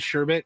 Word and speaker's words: sherbet: too I would too why do they call it sherbet and not sh I was going to say I hate that you said sherbet even though that's say it's spelled and how it's supposed to be said it's Sher sherbet right orange sherbet Justin sherbet